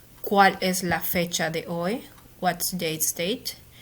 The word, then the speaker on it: hoy: You're going to start with hoy. Hoy means today. Remember that to pronounce, you don't pronounce the H.